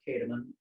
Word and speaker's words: Kahdeman: a public profile that i have it's kataman and it's spelled k-a-h-d-e-m-a-n and on my public profile you'll